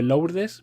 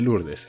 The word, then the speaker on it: Lourdes: que se escribe Lourdes, pero se dice Lourdes.